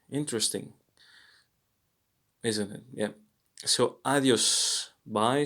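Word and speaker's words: adiós: isn't it yeah so adios bai sounds the same as in a in comma so here we're looking um at the blue the blue letter a by the way as in father father ah ah it's not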